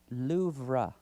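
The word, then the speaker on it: Louvre: The Louv made the list of October's crown jewel theft sparked news coverage with many incorrectly pronouncing the words most visited museum's name which should be loura.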